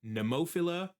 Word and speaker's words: Nemophila: And it sounds like neopila is the right way to say it.